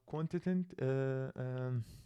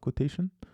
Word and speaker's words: quotient: We return the quotient, not quotation. But I guess it looks like quotation to me. Anyway, let's return the quotient, and we have this